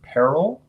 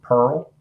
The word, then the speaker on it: peril: Now, depending on which part of the country you're from, depends on how you might pronounce this next word, peril or pearl.